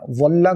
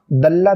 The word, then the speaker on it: ظلّ: ظلّ کو دلّ دال کے ساتھ نہیں بولیں گے ورنہ معنی چینج ہو جائے گا.